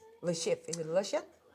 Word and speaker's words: Le Chiffre: Yeah, it's supposed to mean cipher in French. Lucifer. Le chiffre, I think is how I read it. Le chiffre. Le chiffre. Lucifer. He's a Russian, right? Le chiffre.